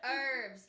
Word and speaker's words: herbs: But we're going to be talking about herbs. Herbs. Well, depending on where you are, that could be correct. Herbs in England, I believe, and then herbs here. The H is silent.